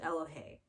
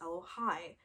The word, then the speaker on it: Elohey: afraid oh hey i i pronounced it elohey but if you just look at it some of you might say that's hello hi do you know what